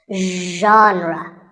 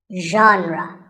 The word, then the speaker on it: genre: correct pronunciation is genre pay attention to the first sound it's like shh but you have to put your voice into it genre genre next up is actually